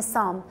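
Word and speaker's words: psalm: को हम कहते हैं साम सो आई एम नॉट प्रोनाउंस प साम मैं पी नहीं कह रही आई एम not using the sound of प मैं कह रही हूं साम सो दैट मींस कि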